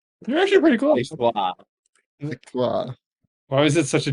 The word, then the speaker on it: Victoire: I got Yeah, a French pronunciation of Victoria. Victor. You're actually pretty close. Wow. Victoire.